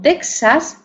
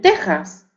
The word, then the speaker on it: Texas: pronuncian con j bien algunos restos de estas grafía se encuentran por ejemplo en topónimos con México verdad que algunas personas dicen México y otras pronuncian la palabra México verdad aunque se escriba México porque se escribe México o o asaka y otros dicen oajaca o Texas y otros dicen Tejas o los derivados de